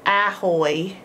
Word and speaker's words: ahoy: are you doing but this is actually a schwa sound which is a lazy way of saying a vowel so Ahoy starts with an A uh but it's not quite ah it's making its schwa sound uh we'll talk about